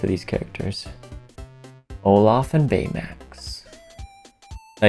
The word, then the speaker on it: Baymax: these characters olaf and baymax now you say i say his name weird you say max bayer max i've always said betamat bay uh max but apparently it's just baymax so um i've been